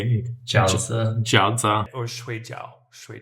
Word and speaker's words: jiaozi: Jiaozi. How do you say it? Jauze.